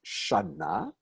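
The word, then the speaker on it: שנה: when it's this one, when they're syllables done with the kamatz, they don't have that stress on the first syllable.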